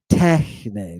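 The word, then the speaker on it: τέχνη: Techne. Look at it. Tau, epsilon, he, nu, eta. Techne. Not techne with an accent on the end, but techne with an accent over the epsilon.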